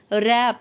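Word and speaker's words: wrap: होता है पूजा करना रेप इसे देखिए इसमें रेप में ब्लू साइलेंट होता है इसे पढ़ने हैं रेप रेप का मतलब होता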